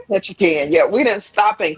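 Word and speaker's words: Ketchikan: I lived in I probably say this wrong. Ketchacan for a few years." You say that right. Birthday. I said it right. Okay, catch a can.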